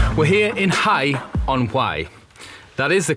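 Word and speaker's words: Hay-on-Wye: on to be honest we're here in Hai on hwai that is the correct pronunciation because Google said it was so at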